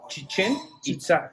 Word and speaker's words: Chichen Itza: So how do you pronounce what I think is Chichen Itza? It's Chichen Itza. Chichen Itza. Yes. Okay. But even that word is like a bastardization from Spanish.